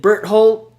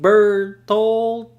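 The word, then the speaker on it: Bertholdt: I always had a suspicion between Reiner and Berthold. Did I say his name? Bertolt.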